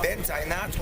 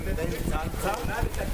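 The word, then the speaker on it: Bint-Anath: Bent Aynat, or you may pronounce her name Bentanta.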